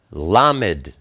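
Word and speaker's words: לָמֶד: Then we have Lamed. Lamed is the number 30. It's pronounced L like love.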